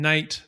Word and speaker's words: knight: Because—so one way is that all these silent letters that we see, things like the K in knight, the W in two, the N in condemn.